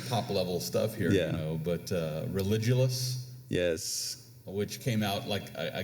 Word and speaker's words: Religulous: How do you pronounce that one? We're talking top level stuff here, but Religulous.